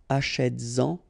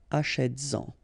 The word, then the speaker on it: achètes-en: So you get to make this liaison. Same thing here, vas-y, vas-y, all right? And then achètes-en, achètes-en, all right? So that's one important thing